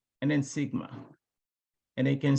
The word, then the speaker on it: Sigma: this guy this the sigma deviation the way you pronounce the one over here you pronounce it as Mu this one Ison as Sigma I know if you remember